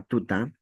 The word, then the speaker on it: tuta: En esta palabra tuta no hay tilde. Si en una palabra no hay tilde, la mayor fuerza de voz está en la penúltima sílaba.